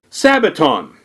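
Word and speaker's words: σαββάτων: the Greek plural word for Sabbath and it's pronounced Sabaton so the first thing you need to ask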